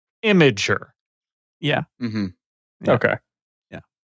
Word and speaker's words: Imgur: The consensus I'm gathering from the internet as I'm doing a little research is that the company pronounces it Imager.